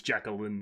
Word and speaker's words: Jacqueline: dr jacqueline carey um is it jacqueline it's jacqueline yeah kerry um she's pretty famous uh jim